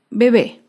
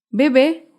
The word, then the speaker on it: bebé: veremos en otra oportunidad otro ejemplo es la palabra bebé bebé es una palabra aguda se acentúa en la última sílaba y lleva tilde porque termina en vocal bebé acá vemos otro ejemplo